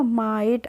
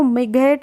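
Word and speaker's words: might: क्या हो जाएगा माइट आईजीएसटी का प्रोनाउंस एशन अभी मैंने बताया आइट होगा तो आई आइट में क्या लग गया आगे लग गया मा तो हो गया माइट कैसे पढ़ेंगे इसको मि घट नहीं पढ़ेंगे प पढ़ते हैं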